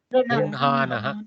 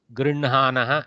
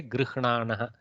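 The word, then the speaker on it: गृह्णानः: Grinhanaha. Very good. Grinhanaha. Okay. Nakara pronounced before Hakara typically, but there is no controversy. If you want to say Grihnanaha, go ahead.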